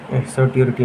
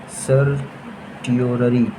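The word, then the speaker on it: certiorari: सर्टियोरिटी नहीं यार, CERTIO TIORARI। हाँ यही बोलते हैं यार, स्पेलिंग मुझे याद है। सर्टियोररी, जो भी बोलते हैं मैनेज कर लेना भैया।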